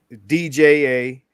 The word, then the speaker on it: Django: DJANGO, and the D is silent, motherfucker.